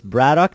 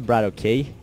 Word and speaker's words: BratOK: uh setup but anyway bradoock is um it's pronounced bradoock not Brado K but just to notify that um it's pronounced